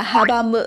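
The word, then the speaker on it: 阻む: Cái động từ gốc của chúng ta là habamu và đây được chuyển thành cái dạng bị động đó là habamaderu, đúng không ạ?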